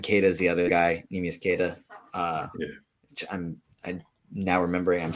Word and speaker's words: Neemias Keita: It is Neemias Keita. Cool. Neemias.